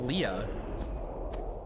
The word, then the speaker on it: Leah: That's just Leah. Well, they pronounce it Lee, but yeah.